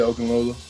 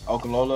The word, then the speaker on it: Okunlola: Did I pronounce that correctly? Yeah, Okunlola. Okunlola.